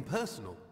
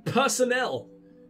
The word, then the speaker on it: personnel: The Rathir chapter certainly manages to provide the resources we need, be they financial, academic, or even personal. I think you mean personnel. No one pronounces that personal.